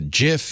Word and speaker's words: GIF: was his acceptance speech it's pronounced jif not gif so in honor of